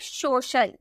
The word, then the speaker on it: social: Next हमारा fourth rule है, यदि सी के आगे आई और ए, सी के आगे आई ए रहे तो सी का उच्चारण शौ में किया जाता है। जैसे आपका सी है उसके बाद आई और ए नजर आ गया तो उसका प्रोनाउंसिएशन हम सौ में करेंगे। जैसे SOCIAL, आपको सी के बाद आई ए देखने को मिला ना, यानी कि हम बोलेंगे सोशल, सोशल, ठीक है।